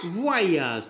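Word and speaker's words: voyage: فواياج. تري بيان فواياج. الوغ هنا او ايغريك كتنطق كوم وا.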